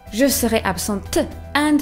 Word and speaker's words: absente: The correct way for a woman would be "je serai absente" with an E at the end, pronouncing the T. "Je serai absente."